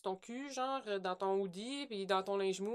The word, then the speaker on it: hoodie: Hoodie. Faut que tu prononces le hash.